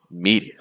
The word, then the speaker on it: media: Or media, media, media, media. See how heavy that first syllable is once more.